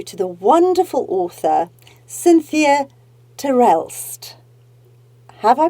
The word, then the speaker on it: Terelst: to introduce you to the wonderful author Cynthia Terrell have I pronounced your surname correctly you got it right